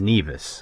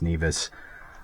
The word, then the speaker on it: Nevis: And it is Nevis, okay? So like, Nevis and Butthead, Nevis. That's how you pronounce it. It's not Nevis, it's Nevis.